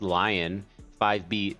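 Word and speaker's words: LAION-5B: In this case, it is using the, I believe it's pronounced Lion 5B data set, which is scraped non-curated image text pairs.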